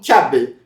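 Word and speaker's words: Cabba: Porém em japonês esse nome é pronunciado como Kabel, que fica parecendo com quiabo em português, mas isso é só uma coincidência.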